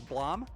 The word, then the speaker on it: BLAME!: in english this would be pronounced blame however i have found some sources listed in the description that imply it's pronounced blam this latter pronunciation makes the exclamation point in the title make a lot more sense if it's intended to be a sound effect i was able to dig up the creator pronouncing it as blum so that's what i'm going with anyways blom is a dystopian